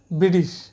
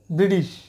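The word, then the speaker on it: British: যাবে তাই ব্রিটিশ ম্যানদের কাছ থেকে শুনি এই উচ্চারণটা ব্রিটিশ ব্রিটিশ ব্রিটিশ প্রিয় শিক্ষার্থীরা এবার আমরা চলে যাই এখানে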